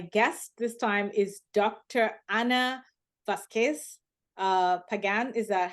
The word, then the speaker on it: Ana Vazquez-Pagan: Ana Vazquez-Pagan. Is that how you pronounce the name?